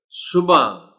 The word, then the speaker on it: صبح: نہیں پڑھا جا سکتا۔ بالکل درست تلفظ اس لفظ کا ہے صبح، یعنی ہے اتنی نمایاں کر کے نہیں پڑھی جاتی۔ صبح، صبح، یعنی تھوڑا